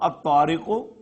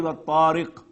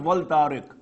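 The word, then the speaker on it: الطارق: The example of ta, at-tariqu, was-samai wat-tariq, not wal-tariq.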